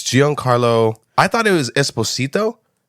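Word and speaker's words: Giancarlo: pronounce his name you just forgot how to pronounce his name it's Gian Carlo I thought it was Esposito but it's pronounced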